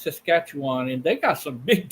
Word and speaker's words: Saskatchewan: that how you say it Saskatchewan yeah it's Saskatchewan and they got some big deer up there